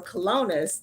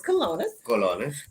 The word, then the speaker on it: colones: Rican currency is 534 kelownas to the U.S one dollar right so I'm pronouncing everything right it's colonos okay that's what that's